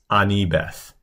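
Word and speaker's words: אני בת: that, she just says ani Beth because you don't need the to be verbs in Hebrew. So she just says ani Beth. Ani Beth. Or in our pronunciation, it would be ani bet.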